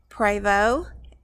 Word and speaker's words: Prevost: is a 45 foot Prevo and the um conversion is a marathon and it's it looks like it's spell or pronounced Prevost but it's French and it's pronounced Prevo uh she has a